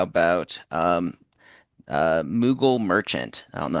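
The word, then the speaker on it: Moogle: Uh so, how about um uh Mughal Merchant? I don't know how to I haven't played Final Fantasy, so I don't know how to pronounce that first name, unfortunately. Uh, how do we spell Mughal?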